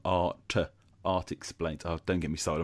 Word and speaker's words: ARTexplains: But of course, I know you as a YouTuber from ARTexplains. I said that really wrong. ARTexplains.